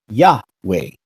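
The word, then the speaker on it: Yahweh: that similar structure and knowing that the first syllables pronounce yah an easy assumption is that it's pronounced yeah way following this structure where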